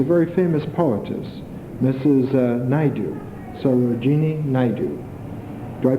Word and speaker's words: Sarojini Naidu: Naidu, Sarojini Naidu. Do I pronounce her first name right? Yes. Sarojini Naidu, whose poems have been translated into English, and they are elegant.